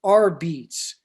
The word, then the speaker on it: apizza: made and it's and it's labeled r beats a-r-b-e-t-z-e yeah um so kind of a phonetical kind of how to pronounce it yeah you know at